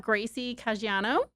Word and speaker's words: Gracie Caggiano: So we have Gracie Caggiano. Did I pronounce that right?